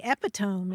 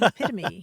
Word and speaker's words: epitome: I mean, I used to say epitome instead of epitome, Yeah.